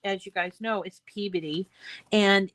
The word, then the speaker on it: Peabody: in Peabody, except in Peabody. And so anyway, I was talking to this woman, and she goes, "Oh, you're saying Peabody," and I'm like, "No, I'm saying Peabody because that's how we pronounce it."